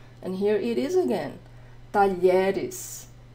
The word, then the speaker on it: talheres: Just ways to help you see what the LH sounds like in Portuguese. And here it is again, talheres, talheres, porta, talheres, porta, talheres, colher de pau, colher de pau, espátula, espátula, prato, prato, tigela, tigela.